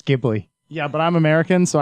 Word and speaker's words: Ghibli: And End there is actually a correct pronunciation for that. and it's Ghibli.